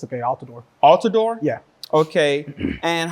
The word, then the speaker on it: Altidor: podium please it's I'm sorry is it pronounced alador how do you pronounce your last name sir it's okay alador alador yeah okay and how do you pronounce